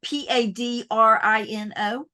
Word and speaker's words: Padrino: So, again, in my southern pronunciation, Padrino, it's Padrino.